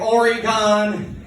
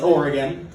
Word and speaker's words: Oregon: Mainly because people here actually know how to pronounce Oregon. Everyone out east is like Oregon and all that, and every time they do, a little bit of me dies inside.